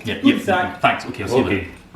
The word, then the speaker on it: cul-de-sac: It's not cul-de-sac, it's cul-de-sac.